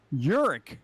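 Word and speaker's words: Jurik: funny what is it uric jerk jerick j-u-r-i-k so there is the g is silent g-y is silent and they sound like a j and there's an unspelt j in that last name dude if we pronounce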